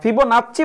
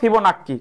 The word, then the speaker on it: ফিবোনাচ্চি: 21 common পড়েছে হ্যাঁ ফিবো নাচ্চি বা ফিবো নাক্কি ঠিক আছে দুইটাই ঠিক আছে ওইটা একেক জায়গায় এ একটা উচ্চারণ দেওয়া আছে ফিবোনাক্কি বা ফিবোনাচ্চি দুইটাই ঠিক আছে সমস্যা নেই ওকে আমরা পরের প্রশ্নে